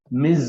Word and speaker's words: Ms: female ms full stop miz it's pronounced miz and for every email